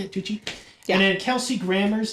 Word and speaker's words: Tucci: Tucci, is that how you say it, Tucci?